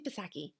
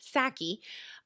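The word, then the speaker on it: Psaki: napasaki i always say pasaki i know the p is silent saki whether or not the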